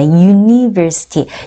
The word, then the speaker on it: university: University. University는요, 발음이 특이하죠, 여러분. University는요, 자, U로 시작하지만, 대학교라는 단어는 U로 시작하지만, 발음은 University에서 Ju 사운드가 납니다.